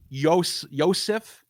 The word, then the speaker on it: Yosef: So you could see there's like some euhemerization happening with people even point out Yosef. That's how you say his name in Hebrew.